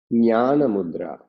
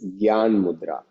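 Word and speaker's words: jnana mudra: is one mudra which is called nyana mudra or in English if you read it's role of people pronounce as Jan mudra so in Sanskrit it is in English it is written as g y a n Gyan mudra but it is for knowledge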